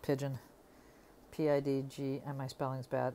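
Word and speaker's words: Pidgin: He makes these BJDs called Pigeon. P-I-D-G, and my spelling's bad. It's not spelled like pigeon. P-I-D-G-I-N.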